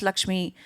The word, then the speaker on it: LXME: So I run a company called LXME, it's pronounced Lakshmi, named on the goddess of wealth.